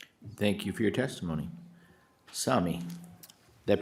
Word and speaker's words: Sami: Sami, did I pronounce that right?